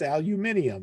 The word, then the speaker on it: aluminium: the other room saying i taught my kids the right way to say it and it's aluminium and that's correct apparently so apparently there was